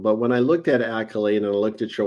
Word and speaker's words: Akylade: I am doing great did I pronounce it right Accolade you did Accolade is correct well when I was